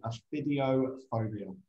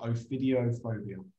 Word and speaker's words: ophidiophobia: I selected, is called aphidiophobia. I don't know if I've pronounced that correctly, but ophidiophobia. Ophidio. O-P-H-I-D-I-O. Ophidio. I presume that's how you pronounce it.